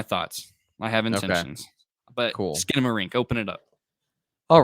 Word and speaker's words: Skinamarink: you'll hear my thoughts I have intentions but skin marink open it up all right skin marink and I just I literally just learned how